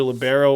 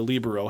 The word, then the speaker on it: libero: different colored Jersey so that's called your libero or your Libro however you choose to pronounce it I actually oscillate back and forth but essentially it's an Italian word it means free and it started coming